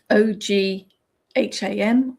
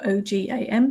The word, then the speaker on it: Ogham: O G H A M or O G A M, depending on how you spell it. Ogham or Ogam, depending on how you pronounce it.